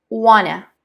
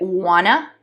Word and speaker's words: wanna: Y una de ellas es wanna. Nada más y nada menos que want to, pero pronunciado bien rápido.